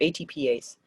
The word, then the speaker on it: ATPase: the atp ace so you just you spell it out atp and then in small letters ase on the end so atpase and some people call